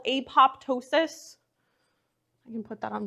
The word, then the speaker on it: apoptosis: there's this process called apoptosis I can put that on the board apoptosis I've heard some people pronounce it apotosis like the second p is sometimes silent either way is acceptable um but apoptosis is